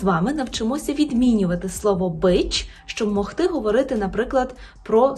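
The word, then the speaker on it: być: яке польською перекладається як бич бич з першого уроку ви вже знаєте що ц з рискою читається як ч бич бич І наприклад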